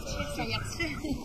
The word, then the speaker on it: Sayaxché: ¿Cómo se pronuncia Sayaxé? Sayaxé.